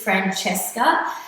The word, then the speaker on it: Francesca: Francesca is an Italian name. And as my students know, it's the most unpronounced name within the community when it comes to performances. So my name is Francesca. It purely is an Italian name, okay? I got it from my nonna.